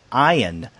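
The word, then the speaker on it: Ayn: other day it it was from Michael Moore and I thought oh my God this famous director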